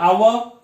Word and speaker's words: hour: There is a hour. We pronounce like O, not H.